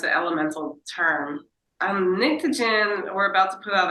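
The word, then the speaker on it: Pnictogen: It's called Nictogen, which is spelled P-N-I-C-T-O-G-E-N. It's an elemental term. Nictogen, we're about to put out our 4th album.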